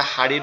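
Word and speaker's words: هاء: এটা মূলত উচ্চারণ হবে আমাদের কণ্ঠনালীর শুরু, অর্থাৎ গলার এইখান থেকে। এইটা এবং এই হামজা 2টা একই জায়গা থেকে উচ্চারণ হবে।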